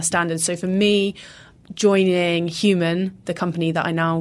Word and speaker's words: HVMN: isn't it and and human of course hvmn is the way that it's spelled formerly neutr box and